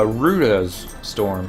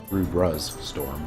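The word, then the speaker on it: Rudra's Storm: but I haven't uh rudas storm is um rudra storm if you're going to pronounce or pronounce it correctly is the one that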